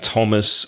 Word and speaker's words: Thomas: voice number two or like the T sound like Thomas or Thames or time which is number three